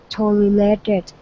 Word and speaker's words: tolerated: not going to be tolerated. Okay, nice. Let's go to the word tolerated. All right, so the stress is at the very beginning of the word.